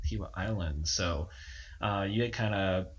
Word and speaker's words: Kiawah Island: you said it right, so I'll let you pronounce it first. Kiowa Island. Kiowa Island.